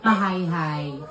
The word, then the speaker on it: Majayjay: He got 1 million followers on TikTok from how do you pronounce it? Majayjay Laguna. Ha? Maay. Hi.